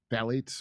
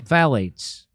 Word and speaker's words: phthalates: Phthalates. Phthalates.